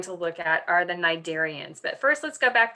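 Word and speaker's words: Cnidaria: a r i a Nigeria the C is not pronounced and this includes a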